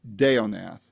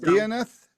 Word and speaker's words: Deonath: And then is it Deonath? Is it Deonath? Like banana boat Nath. I'm sorry that you had some latency there. What was it again? Deonath.